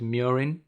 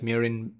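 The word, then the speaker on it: murein: can also be called murine but it's your choice what word you like i personally like mirin as it rhymes with urine but hey that's me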